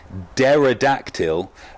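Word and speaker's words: pterodactyl: and then the center Dara dactyl I believe that's a silent P Dara dactyl suggested eighteen thousand points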